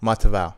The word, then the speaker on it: Matavao: mava M almost Mato matava matava matava he was right but he was using D instead of t Okay m al mat